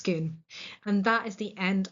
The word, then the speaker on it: Scone: is going to be at a place called Skoon. It is not scone or scone in this context. It is pronounced schoon.